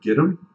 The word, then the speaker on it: Gidim: The most recent, I want to say it's called Gidim. G-I-D-I-M, I think is how you say that.